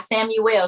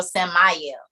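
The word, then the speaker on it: Sammael: satan you are right not samuel samayal s-a-m-m-a-e-l mile tyra he was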